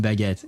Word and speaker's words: baguette: There is a U in baguette. It's B A G U E E T E. You missed a U. The U is important. Otherwise, it would be pronounced Bett.